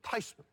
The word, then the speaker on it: Theismann: name from fees minted theismann how do you feel about it she says Val you know the correct pronunciation is actually Tyson so that seems to